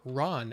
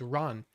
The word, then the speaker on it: Ran: The next movie, not planned, watched Akira, and then I watched an Akira Kurosawa film, Ran, or Ran, as it's actually pronounced in Japanese, Ran, which basically means chaos.